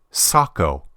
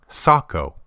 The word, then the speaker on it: Sako: told by those who speak Finn it's actually Sako Sako all right while we're on Sako let's learn how to pronounce one of their most famous products most